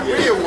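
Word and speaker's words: rereward: Yeah, it's Rearwood. Yeah, rearwood. It's just how they did it. So like reward, yeah, it's actually rearwood. When you look up the strongest one, it's rearwood. Rearwood. It's how they spell it.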